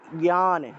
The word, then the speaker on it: জ্ঞান: জিয়ান হবে এভাবে বলে জ্ঞান শব্দটাকে অনেকে জিয়ান বলে ফেলে জিয়ান উচ্চারণ করে এটা জিয়ান হবে না এটা জ্ঞান জ্ঞান এভাবে এটা আমি